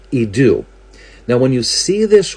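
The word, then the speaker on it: ἰδού: In the New Testament, it's pronounced idu.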